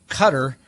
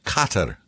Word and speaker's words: Qatar: Cutter next. Next, I don't know. Is it Dubai? I always forget. No, cutter is its own cutter. Cutter country. It's actually pronounced Carter.